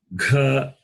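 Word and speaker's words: घ: Number 3, you can see ka, kha, ga, gha, na. Ka, kha, ga, gha, na. I will pronounce again in detail.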